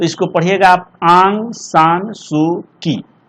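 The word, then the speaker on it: Aung San Suu Kyi: देखिए ये Burmese writer हैं, इनका नाम है आंग, लिख देते आप, इसको उच्चारण बढ़िया से कीजिएगा, आंग सान सू की, ऐसे इसको पढ़िएगा आप लोग।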